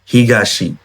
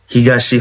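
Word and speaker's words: 東: তো এটার মেইন উচ্চারণ হচ্ছে হিগাশি, হিগাশি হচ্ছে এটা মেইন উচ্চারণ, ঠিক আছে।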